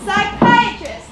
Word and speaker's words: psychiatrist: being prepared by my psychiatrist star psychiatrist the p is silent some words have silent